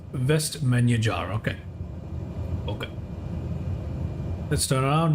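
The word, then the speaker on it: Vestmannaeyjar: finally I got it best menu jar is not many meniere it's menu jar okay so I'm still navigating the rules of pronouncing Icelandic names but it's vest menu jar okay okay let's turn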